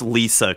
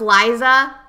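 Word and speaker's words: Liesa: It's Lisa calling, all right? Get with the program. Liza? You thought it was Liza? Maybe. No, it's Lisa now.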